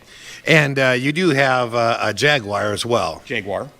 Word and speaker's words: Jaguar: Jaguar, as they say in Great Britain. Yeah. Jaguar. I say not Jaguar. I say it the American way. You gotta get it right. Jaguar. It's like 3 syllables.